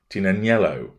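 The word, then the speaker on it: Tignanello: actress's favourite red wine, Tinanello, which of course means you wouldn't call it the Tig, because the G is silent, once again demonstrates her level of dim-wittedness.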